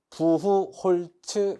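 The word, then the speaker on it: Buchholz: 이거 한글로 쓰면은 부후홀츠 개정기예요. 꼭 기억하셔야 돼요. 이게 지금 외국어다 보니까 발음에 따라서 콩글리시다 보니 부라고 하는 사람도 있고 브라고 하는 사람도 있고 츠라고 하는 사람도 있고라고 하는 사람도 있어요.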